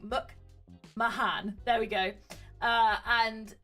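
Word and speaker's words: McMahan: the Creator and executive producer Mike McMahon Mike MC Hannan I always get his name wrong Muk Mahan there we go uh and Alex curtzman so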